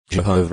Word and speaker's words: Jehovah: personal name ps83 18 correct pronunciation of the Divine name Jehovah is the best known English pronunciation of the Divine name although yahwe is is favored by most Hebrew Scholars the oldest Hebrew manuscripts